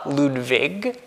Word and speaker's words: Ludwig: remember his son Ludwig, to emphasize the V, we have here V, Ludwig. That's probably how you say his name.